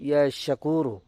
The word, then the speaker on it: ইয়াশাকুরু: সঠিকভাবে উচ্চারণ করবেন ইয়াশাকুরু।